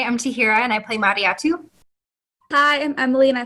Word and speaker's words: Mariatu: Actually, my name is pronounced Mariatu. The L is silent.